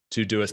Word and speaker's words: Doist: I'm the head of remote at Doist, which is often pronounced Doist, and there is no shame in saying Doist, but we are Doist and the creators of Todoist and Twist, which were already introduced.